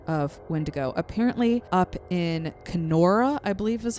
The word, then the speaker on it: Kenora: here and there of windigo apparently up in kenora i believe is how you pronounce it by the way so sorry if